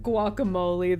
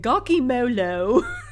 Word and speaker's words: guacamole: names and it's so funny like like a guacamole the lady pronastic gakimolo and instead of Taco they say taco it's